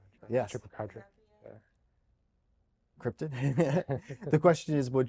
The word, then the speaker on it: chupacabra: Chupacabra. Yes. Chupacabra.